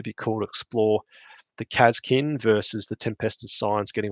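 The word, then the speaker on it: Kasrkin: Another one is I am probably going to one day do a lore video on Kazkin, or the Kazrakin if you want to mispronounce it, and basically speak about what it would be like to be in the Astra Militarum Special Forces.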